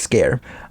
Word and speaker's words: Sker: uh made of scare scare being s-k-e-r but basically that's how you say it just scare um and that's just